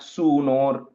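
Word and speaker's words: सूनोः: the first line mattum the sunor is a long u okay yadharma sunor and the word यस्यानुरागप्लुद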